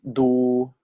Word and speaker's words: ดู: This word is pronounced as ta. This word is the same as this, right? This is do, correct?